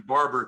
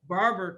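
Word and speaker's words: Barbour: of uh new vision and how do i pronounce that barbara or it's in barber county barber county okay because people pronounce it and people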